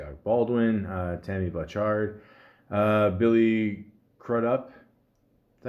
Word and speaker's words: Crudup: Obviously, Alec Baldwin, Tammy Blanchard, Billy Crudup.